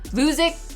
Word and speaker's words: Vuzix: Vuzix Corporation. I don't know if I said it right, but I call it Vuzi, but the ticker symbol is VUZI, and I like this one.